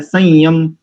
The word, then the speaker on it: संयम: शब्द संयम संयम अब सा के ऊपर अंक बिंदु है और बाद में यम है तो वहां पर य उच्चारण हो रहा है कि नहीं हो रहा